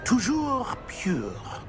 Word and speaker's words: Toujours pure: Toujours pure.